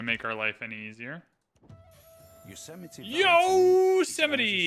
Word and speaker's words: Yosemite: Want to know how many years of my life I pronounced it Yosemite? Not an embarrassing amount, but probably 13 or 14 years of age when I learned that was not how you pronounced it.